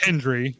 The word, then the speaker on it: Hendry: Yeah, dude, Joe Henry appears. Say his name and he appears. Say his name right. Yeah. It's Hendry.